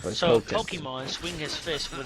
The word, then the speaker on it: Potemkin: Under no circumstances would Potemkin is actually how you pronounce it. It's a little weird, but you just gotta break it down. But So Potemkin.